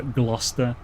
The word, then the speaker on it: Gloucester: So Lester, Worcester, Gloucester, they all spelled with that weird cester thing. It's you don't pronounce that.